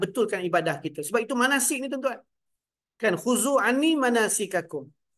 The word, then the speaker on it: Manaseek: nak branding kan branding manasik kenapa Sebab dekat situ tuan-tuan ejaan dia ada sedikit sedikit unik kan m a n a s e e k kalau ikutkan sepatutnya s k kan manasik tapi manasik Kenapa sebab kita nak